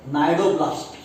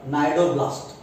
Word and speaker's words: cnidoblast: Then these tentacles, they contain stinging cells called cnidoblast. Again, C is silent. They contain stinging cells called cnidoblast.